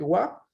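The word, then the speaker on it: は: Entonces, lo que sucede es que wa es la pronunciación de la sílaba ja cuando está en función particular.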